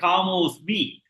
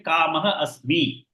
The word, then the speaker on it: कामोऽस्मि: Lopaha means hidden that. You don't have to pronounce that. You can say Kamosmi.